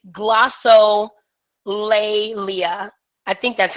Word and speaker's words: glossolalia: But it's glossolalia.